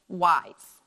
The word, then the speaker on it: wise: because I know that when an S is in between two vowels it makes the sound so we read this word as wise and again our e